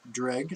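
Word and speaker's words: Dreugh: it ferocious uh dreg somebody explained to me this is pronounced dreg so I'm pronouncing it dreg now uh actually reasonable I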